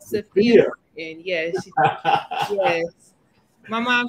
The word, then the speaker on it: Safiya: So it's actually pronounced Safiya. So Safiya.